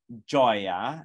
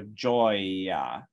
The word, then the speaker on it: gioia: The E here is actually not pronounced at all. We don't say gioia, right? It's modifying the G consonant to be J, and then you go right to the open O vowel, joy, right?